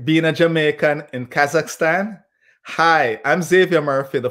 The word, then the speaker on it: Kazakhstan: Did I say it right? So you got Kazakhstan. You got it correct, yes.